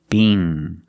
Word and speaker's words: Bing: The long E, B, together, Bing.